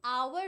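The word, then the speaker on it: hour: यह प्लीज याद रखना क्योंकि आवर जो होता है ना वो लिखते हो तुम एच ओ यू आर। बट वो साउंड होता है ओ। You don't pronounce H.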